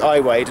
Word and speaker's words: Iwade: I hope it's pronounced Iwade, not Iwad or something.